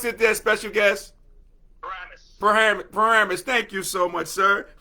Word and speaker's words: Paramus: How do you pronounce it there, special guest? Paramus.